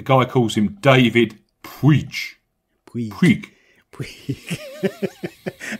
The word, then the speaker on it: Puig: Puig. Puig. How did I pronounce it? Puig. There's no I in it at all when that guy says, Puig. The commentator that does, it's David Puig.